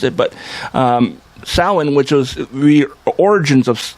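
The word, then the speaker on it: Samhain: was for it was part of the the Sal which is you know it's people call it Sam hay cuz they don't know how to pronounce it but um Sal which was the origins of of of Halloween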